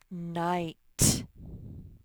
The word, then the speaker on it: night: Night. The G and the H are silent. They make the I say I.